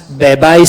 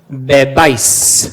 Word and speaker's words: bebáis: What does that accent do? Yeah, it puts the stress on the ending, doesn't it? Bebais, subais. Yeah, it puts the stress on the final syllable, which happens to be the ending.